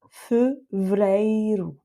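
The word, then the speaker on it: fevereiro: Ensuite, on a vay parce que là, on peut effectivement prononcer le V et le R, ça se fait assez facilement. Donc, c'est ce e- là qu'on va rendre muet. Et enfin, le dernier e, lui est tonique. Il va avec e et donc c'est un e ouvert. Donc ce mot-là, ça donne feu vrairou.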